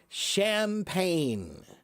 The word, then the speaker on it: champagne: Champagne. Champagne. Yeah. But the the word champagne is spelled ch H A M P A N G E.